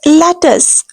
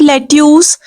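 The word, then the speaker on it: lettuce: माय God very important the word is लेटस this is नॉट लेट्यूस नो way incorrect simple pronunciation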